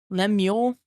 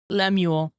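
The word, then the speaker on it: Lemuel: Uh, this dude's name is spelled like Samuel, but it's Lemule.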